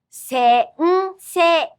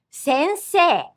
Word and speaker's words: sensei: Listen and imitate some words with this nasal Notice there's an extra beat. Sensei. Sensei.